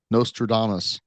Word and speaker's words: Nostradamus: Nostradamus.